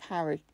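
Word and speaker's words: Harray: in the parish of Harry, which is not spelt like the boy wizard. It's spelt H-A-R-R-A-Y.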